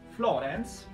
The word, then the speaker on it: Florence: Per quanto riguarda invece Florence, che mi ha detto che l'accento va sulla O, quindi d'ora in poi spero di riuscire a pronunciarla bene.